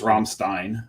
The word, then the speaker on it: Rammstein: We even had Rammstein, as the band is Rammstein. Rammstein. But in German it's Rammstein, and that's the way that Greg's pronounced it.